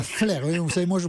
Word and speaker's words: Flers: se prononce pas, monsieur Apathy. À Flers, oui, vous savez, moi je prononce un peu Mais il toutes n'y a les pas de lettres.